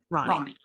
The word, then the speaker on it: Ronnie: And then we have Ronnie. It is pronounced Ronnie, or is it Roni? Ronnie.